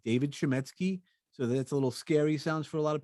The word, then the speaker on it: Chametzky: media uh and I keep my name David shimy so that's a little scary sounds for a lot of people so I'll spell it out for your people is David is